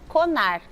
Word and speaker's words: CONARQ: órgão que rege isso, que chama o CONAR. Se escreve CONARQ, Tá.